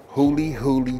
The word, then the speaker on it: Huli Huli: nothing about it listen it's pronounced hully hully chicken and guess what folks